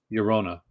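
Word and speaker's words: Llorona: film elimination booklet uh four thousand copies it's pronounced yorona are you uh i can see if you're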